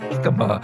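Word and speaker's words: jícama: j is for sweet jicama they are eaten sliced or whole if you pronounce the j like h you're speaking espanol give me a fruit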